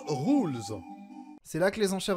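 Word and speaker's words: Rouxls: merci bon appétit messieurs rooks attention prononce rules c'est là que les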